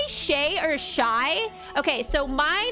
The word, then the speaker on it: Shay: in shy yeah so my grandma calls me Shai and I kind of Reserve that for her and then I I go by Shay with everyone else and I just spell it s ha A Y just for ease um